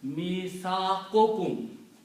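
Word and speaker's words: ميثاقكم: So mithaqun and kum, when you combine these together, this will be pronounced mithaqukum.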